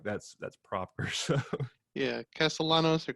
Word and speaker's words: Castellanos: heard him pronounce it that way, and I feel like that's proper. So, Yeah, Castellanos or Castellanos if you want, but it's all good.